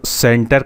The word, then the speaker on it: Tsentr: अगला प्रश्न, बहुउद्देशीय युद्ध अभ्यास, जिसको सेंटर कहा जाता है, इसकी स्पेलिंग है TSENTR, 2019 का आयोजन कहाँ पर किया गया?